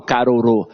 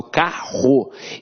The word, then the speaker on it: carro: tenho um diga vou eu não falo caro eu falo carro então esses dois erres aqui tem um som de r forte então apesar de ter